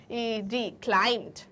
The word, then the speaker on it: climbed: की स्पेलिंग होगी CLIMBED, क्लाइम्ड। बोलने में यही करेक्ट है, बट लिखने में स्पेलिंग ये रॉन्ग है। This is the right spelling, जिसमें B जो है वो साइलेंट लेटर है।